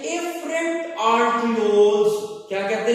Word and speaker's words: afferent: थोड़ा सा फर्क है प्रोनाउंसिएशन के अंदर भी और स्पेलिंग्स के अंदर भी। जो ब्लड आने वाला है वो आता है एफरेंट आर्टियोल से, AFFERENT, और जो ब्लड मूव करके जा रहा है वो इफरेंट, EFFERENT. You should differentiate both of these arterioles.